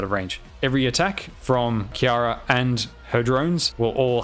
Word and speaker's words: Kjera: pronunciation i should correct myself on the pronunciation pronunciation is kiara kiara has got the cold slash frost mechanic